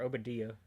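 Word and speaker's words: Oba Diah: Rafa accepts an assignment to deliver a load of spice from Kzle to the Pike Syndicate uh on Obadia or Oadia is how they pronounce it.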